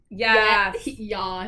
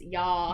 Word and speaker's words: yas: Yes. Yes. It's not yes, it's yas.